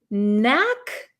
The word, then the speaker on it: knack: this is have a knack for something have a knack for something so you'll notice there is a k here but this K is silent we do not pronounce this K okay so it's the